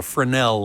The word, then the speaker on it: Fresnel: this screen called a Fresnel lens, spelled F-R-E-S-N-E-L, but the S is not pronounced. It's French.